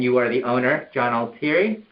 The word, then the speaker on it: Altieri: And you are the owner, John Altieri? Correct. Am I pronouncing that correctly?